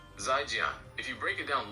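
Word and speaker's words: 再见: The most common and standard way to say goodbye in Chinese, Mandarin, is 'zhi, pronounced 再见.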